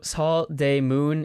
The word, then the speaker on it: Seodaemun: Uh so Saul demoon, it's spelled S E S E O.